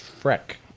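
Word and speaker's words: Frech: My number, F-R-E-C-H, Rich, but it's pronounced Freck.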